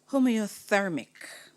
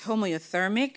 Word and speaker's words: homoiothermic: Homeothermic. Homeothermic. Homeothermic. Are there any other ways to pronounce this word? Not that I'm aware of. Homeothermic. Yes. Please may I have the definition? It's homeothermic and it's warm-blooded, maintaining constant body temperature.